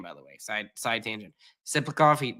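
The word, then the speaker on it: Tsyplakov: Siplikov, it starts with a T, but that's how you pronounce it.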